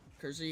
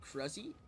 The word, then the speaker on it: Kruzzy: But I get Kruzzy and Kersey a lot. It's never really Kersey. It's... Yeah, what's good, Kruzzy? That's the pronunciation.